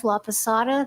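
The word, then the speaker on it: Laposata: Elizabeth Laada. That's spelled L A P O S A T A.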